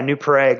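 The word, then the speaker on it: New Prague: Minnesota called new prag new know PR yeah new prag we actually uh it spelled Prague because there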